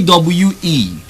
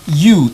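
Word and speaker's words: ewe: a WEA female sheep aw e is you not a we aw e you the same way you pronounce y-o-u I repeat aw is pronounced you just as you pronounce y ou you and then you have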